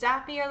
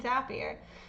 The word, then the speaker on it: Zapier: The fucking company says it's Zapier like happier, so fuck it, bitch. I'm saying Zapier.